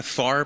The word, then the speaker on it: Pfarrer: seal Target gono Chuck Farrar am I pronouncing your name correctly uh far but you know I'm so used to when I order a pizza it's Smith it's far yeah far believe it